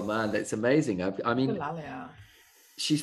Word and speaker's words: echolalia: I'm a bit scared to pronounce this because I can't pronounce it. Ecolia? Oh, echolalia.